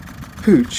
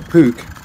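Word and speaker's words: Puch: world thank you maxi Pooch or puke if you're going to pronounce it correctly which I admit I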